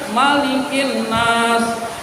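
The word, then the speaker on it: مَلِكِ النَّاسِ: Yang betul kan Malikin Nas, Malikin Nas, maknya pendek, nggak boleh panjang ibu sekalian.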